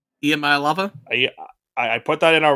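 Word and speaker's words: Iamaleava: the quarterback for Tennessee it's IAM Maya lava I think that's how I think it's how you pronounce it it's emaya lava EMA lava I put that in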